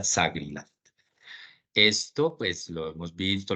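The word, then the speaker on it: SAGRILAFT: Y es una palabra que se pronuncia SAGRILAT.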